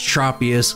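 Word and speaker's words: Tropius: of official Pokémon events so it's propus like you would say tropical if you didn't know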